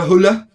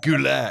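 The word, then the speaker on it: Güler: Arda Hula. Have I said it right? Is it? No, I've said it wrong again. It's a Goulet. He has a strong G.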